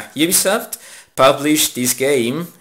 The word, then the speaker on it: Ubisoft: believe that Ubisoft Ubisoft you know how you pronounce it correctly you soft publish this game it's not something and it